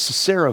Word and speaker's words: Sisera: Oh, yes, Sisera, who was the leader of the army of the Canaanite king of Hazor.